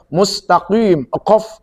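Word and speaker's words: مستقيم: Seperti contoh mustaqim itu artinya jalan yang lurus ya. Tetapi kalau mustaqim kaf itu artinya setrikaan yang ada di neraka.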